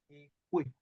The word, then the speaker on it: ekwe: So pronounce that ekwe, not ekwe, not ekwe, not ekwe. Ekwe.